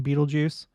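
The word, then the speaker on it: Betelgeuse: getting in between us in Beetlejuice and that is how it's pronounced um well whatever the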